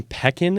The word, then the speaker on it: Pekin: You're from Pekin, Illinois? Is that how you pronounce that?